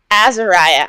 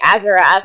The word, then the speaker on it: Azariah: his name uh Azariah Azariah I wanted to say azerath and I'm like that's wrong how does Azariah Escape